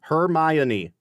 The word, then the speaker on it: Hermione: Yeah, there is an O, but you don't pronounce it. It's just Hermione. How many syllables in Hermione? 4 syllables. Hermione. It's not Hermione.